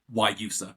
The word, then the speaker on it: Guayusa: So Guayusa, is that the correct term? So it's kind of a soft G, and then or is it just a Y at the beginning? Guayusa, pretty much. Yeah, Guayusa.